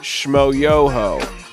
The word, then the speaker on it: Shmo Yoho: musician, known online as Shmo Yoho, accent on the yo.